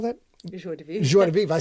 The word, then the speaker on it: joie de vivre: Joie de vivre.